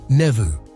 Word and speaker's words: nephew: This change led to the modern pronunciation with an F sound, replacing older English pronunciations like nevu.